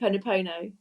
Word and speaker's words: Ho'oponopono: I can never pronounce it. Ho'oponopono.